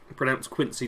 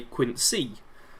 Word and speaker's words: Quincy: Preston is the only character who seems to pronounce Quincy differently. Most of them say Quincy, but he goes Quincy.